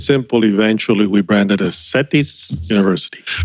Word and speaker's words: CETYS: But to make it simple, eventually we branded as Satisi University.